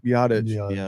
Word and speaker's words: Biadasz: Biadasz, who is one of the top centers in the league.